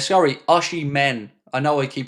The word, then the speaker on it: Osimhen: Romano has said that Al Halal have still not given up on Victor Ashiban h sorry Ashi men I know I keep pronouncing his name incorrectly h they've not left